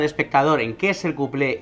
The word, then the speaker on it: cuplé: Se españolizó y se dice cuplé simplemente acentuado y con u.